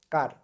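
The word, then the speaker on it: char: ক্যারেক্টার দিলে ক্যারেক্টার টাইপের অনেকে কিন্তু এটাকে চার বলে হ্যাঁ চার না কেন এটার উচ্চারণ কি কার ওকে আচ্ছা এখন হচ্ছে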